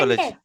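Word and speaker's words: psychology: यहाँ पर अगर सेकेंड वर्ड में आप अगर देखोगे, तो ये लिखा पी है साइलेंट है। साइकोलॉजी। पी साइलेंट है, बहुत अच्छी बात है।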